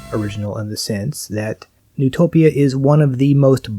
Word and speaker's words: Neutopia: So, Neutopia, or since Japanese game companies have a fascination with German names, this might be pronounced Neutopia, is in many ways a very high quality game.